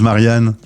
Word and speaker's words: Marianne: les les Italiens disent Marianne euh alors je leur prononce toujours Marian puisque le E se prononce e parce qu'autrement c'est la